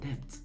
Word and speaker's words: debt: I had issues, but debt. When I was small, I would pronounce debt D-E-B-T, okay? Debt as debt.